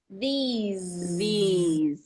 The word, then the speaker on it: these: These. It's a long E as well, right? These. Yes, this. you have to make the long E in order to make the Z.